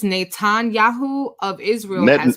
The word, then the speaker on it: Netanyahu: minister Benjamin I don't know if I can pronounce this I guess it's Natan Yahoo of Israel net Netanyahu Netanyahu I said it yeah I said it for